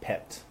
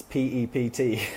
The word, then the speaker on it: PEPT: always used to say no it's it's PEP tea all right it's PPT not pepped for whatever reason that was stuck in my head and you had to say it properly but over the years this has become pepped and it just sounds so much better right hopefully Avant agrees